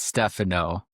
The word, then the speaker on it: Stefano: So it's Italian, so mostly it's Stephano, but okay. The way it's spelled it's Stefano. So if you see my name, then you automatically go Stefano. But if you know a Stephano, then you're trained to go to that that direction.